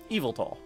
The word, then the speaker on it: Yveltal: Next is LYSANDRE and YVELTAL. Like, evil. YVELTAL.